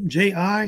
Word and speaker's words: Ji: founded it they were called the G family ji the G family which ruled over this dynasty